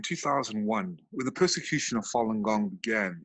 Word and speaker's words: Falun Gong: more healthy and uh stress-free body so when falun gong was introduced into the general public of china and it's pronounced falun gong it was it spread like wildfire paul i